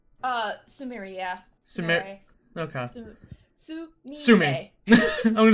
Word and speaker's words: Sumire: And in, Sumere, is that how you pronounce her name? Sumeri, yeah. Sumeri. Okay. Sumi. I'm just gonna call her Sumi. Sumi. Yeah, that works. Sumire.